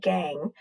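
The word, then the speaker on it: gangue: to be dumped somewhere the gang that's pronounced gang that's even more waste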